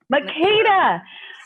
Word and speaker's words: Makeda: Make sure I pronounce it right. You're on mute, so let's just there you go. Wonderful. It's Makeda.